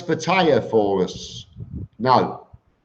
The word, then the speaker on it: Pattaya: that can you pronounce pattaya for us now is Pattaya there's no I in Pattaya it's not the tire change my boy Graham